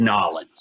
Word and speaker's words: New Orleans: You basically have to pronounce New Orleans like you're both drunk and you've forgotten half the letters in the alphabet.